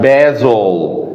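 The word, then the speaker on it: basil: اللي بعدها بازل، بازل. هنا نطقت الاس كانها زي، يبقى الاس لما تكون ما بين حرفين متحركين بنطقها كانها ز كانها زي، عشان كده بازل بازل.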